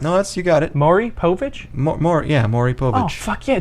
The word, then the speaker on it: Maury Povich: I've never heard that name pronounced. No, you got it. Maury Povich?